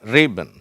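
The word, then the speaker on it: ribbon: சரியா அடுத்து என்ன பா்கறோம் நம்ம ரிபன் இந்த ரிபன்ல முதல் ஸ்ட்ரெஸ்ல முதல் சிலபல்ல ஸ்ட்ரெஸ் இருக்குது. அந்த மார்க் இருக்கு பாருங்க. ரிபன் அப்ப ரி அப்படிங்கறத அழுத்தி வச்சிருக்கணும். அந்த பென்னன்னு சொல்றதை விட இதை கொஞ்சம் அழுத்தமா உச்சரிக்கணும். ரிபன் ஓகேவா?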